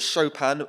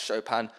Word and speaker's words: Chopin: because someone really likes chopin um and there are a bunch of people who didn't know how to pronounce his name and apparently it sounds a lot like shopping if you say it badly so that was a